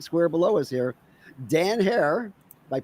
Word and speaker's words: Herer: in the secret square below is here dan hair might pronounce that correctly yes sir how about that